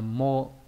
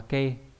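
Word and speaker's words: 毛: Chữ mao này đọc là mô. Đấy. Ví dụ như là gì nhỉ? Trong từ Akami no ke này. Đọc là ke hoặc là mô nhá.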